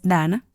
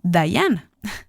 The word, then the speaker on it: Dana: cuando lo dicen correctamente mi nombre por ejemplo es Dana se pronuncia como hana no como Dayana quizá esa sea una